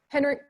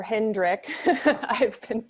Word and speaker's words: Hendrik: Henrik, I'm wondering, or Hendrik, sorry, I think I've been mispronouncing your name.